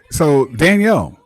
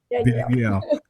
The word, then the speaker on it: Danielle: Okay, so Danielle, let's see, Danielle Littlefield. How are you? Am I saying it right? Is it Daniel or Danielle? Danielle.